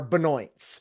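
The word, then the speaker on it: Benoit: whose last name is Benois here in Vermont are Benoy. They're just all Beno. There are I know no Benois. I know all Benoy.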